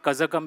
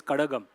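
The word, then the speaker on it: Kazhagam: It's not kazakum it's kadagam.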